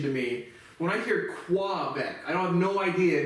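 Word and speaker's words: Québec: that would be pronounced I hear people say qua back um Francaise so I think that's K book was how you would say that properly but whatever it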